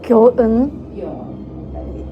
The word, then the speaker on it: 교은: 교은. Thank you. 예상대로 내 이름을 발음하기 어려워했다.